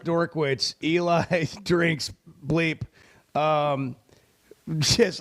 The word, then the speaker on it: Drinkwitz: uh JP said Eli drink wit's name is pronounced dor witz uh I mean we've gotten in like now